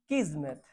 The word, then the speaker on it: kismet: Fate, destiny, किस्मत, KISMET, KISMET, जेड नहीं है। प्रोनाउंसिएशन किस्मत है, पर स्पेलिंग KIS है। किस्मत नहीं पढ़ते, किस्मत पढ़ते, इसलिए प्रोनाउंसिएशन सही होना चाहिए, ठीक है।